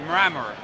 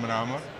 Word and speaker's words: Mramor: my last name, so it is correctly pronounced Mramor. But what they did, because is too difficult, I was due, and Mr. Amor, I became Mr. Amor with a thought after Mr.